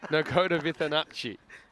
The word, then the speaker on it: Nagoda Vitanachi: Nagoda Vitanachi is how you say it.